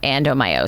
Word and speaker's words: adenomyosis: Explain one more time what adenomyosis Adenomyosis is.